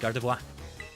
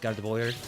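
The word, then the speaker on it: Gardevoir: And also, yeah, I prefer to pronounce it Gardavo. Nothing wrong with Gardavoyer.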